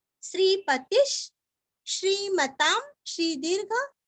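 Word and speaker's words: श्रीपतिः: श्रीवत्स वक्षा श्रीवासश श्रीपतिश श्री दीर्घ पति का तीरस्व श्रीपतिश श्रीमताम श्री दीर्घ ता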